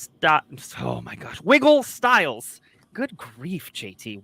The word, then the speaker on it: Wiggle Styles: Sorry, I'm putting the wrong emphasis on the wrong syllable. Oh my gosh. Wiggle Styles. Good grief, JT. Wiggle Styles.